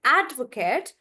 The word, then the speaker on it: advocate: So when I'm saying advocate, you see the stress is on ad, and I'm making that bigger, advocate, like that.